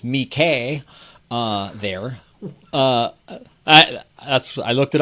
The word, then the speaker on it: Mickey: weekly comics magazine dedicated to mickey which is pronounced me k uh there that's i looked it up me okay